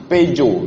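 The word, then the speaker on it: Peugeot: dengan ini ini mobil buatan Prancis pejo tulisannya puget membacanya bahasa Prancis tulisan yang paling kacau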